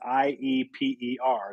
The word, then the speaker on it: Ieper: and the way they pronounce it is it's ieper it's pronounced deeper yeah so that's how that's how the natives who live there pronounce it aper um but the way we always see it